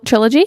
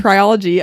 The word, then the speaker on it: trilogy: is uh Tri trial how do you say three books TR trilogy trilogy I was going to say triology I don't know why